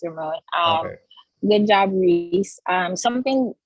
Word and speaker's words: Ramon: Yeah, you pronounced it correctly. Yeah, it's Ramon.